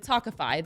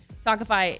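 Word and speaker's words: Tawkify: feel your best when meeting new people with tokify that's spelled t-a-w-k-i-f-y you'll feel confident that you're meeting someone special who is picked just for you talkify is the country's number one modern matchmaking service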